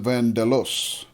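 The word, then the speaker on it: Vandellòs: so it's fine okay it's two L's but you pronounce it as one L say you pronounce it vandelos really interesting see when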